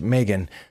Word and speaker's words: M3GAN: as I can tell it is a M3 Gan which I believe is supposed to be pronounced Megan but I'm old-fashioned and